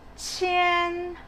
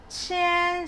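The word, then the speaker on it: 千: thousand so thousand is chen chen so you can see the spelling is q so how do we pronounce q again so it's chi like the batchi so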